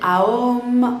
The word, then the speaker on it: Om: Donc il y a 3 syllabes, on dit Aom en général, et donc c'est une syllabe qui est devenue évidemment sacrée.